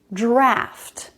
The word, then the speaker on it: draught: you is pronounced drought the one with au is pronounced draft draft is common because